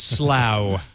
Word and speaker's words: Slough: pronounced slough, like plow.